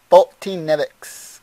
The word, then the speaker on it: Foltynewicz: Foltynewicz, guys. I know. It seems like I'm not saying it right, but that's how you say it.